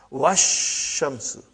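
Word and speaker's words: والشمس: But if waw came, put waw in front of this, you will say wash. Even alif and lam both were assimilated. Wash shamsu.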